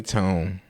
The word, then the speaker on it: Toné: The Why you saying tone is because it's spelled T O N E, but it has an accent over the E.